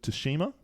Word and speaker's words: Tsushima: Uh kind of very Ghost of Toshima pronunciation which we're saying correctly now.